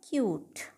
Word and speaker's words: cute: home, CUTE, क्या होगा, क्यूट, यू, ये यू है तो ये यू आ गया, टी, ई साइलेंट रहा, ई की यहाँ पे कोई भी साउंड नहीं है, एच ए इसमें ओ